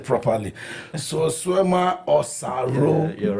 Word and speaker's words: Solsuema Osaro: Chief, let me see if I can pronounce this name properly. Solsuema Osaro.